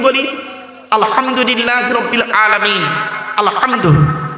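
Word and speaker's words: الحمد: আলহামদু, গলার ভেতর থেকে এটা উচ্চারণ করবেন, আলহামদু। এর বাংলা মানে কি?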